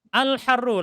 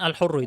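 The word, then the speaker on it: الحَرُّ: Al-harru, lanjut Mas Dimas dibaca. Al-harru. Al-harru fa'ilun marfu'un bid-dhamm. Iya, bukan al-hurru itu ya, al-harru yang benar bacanya.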